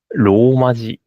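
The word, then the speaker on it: rōmaji: Romaji. Romaji. Yeah. Yes, yes, yes. Very flat way.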